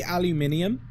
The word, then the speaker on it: aluminium: Say aluminium. Which is the accepted pronunciation internationally, I believe.